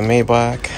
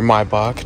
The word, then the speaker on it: Maybach: we're moving on to the Maybach or Maybach depending on how you want to pronounce it and we're also going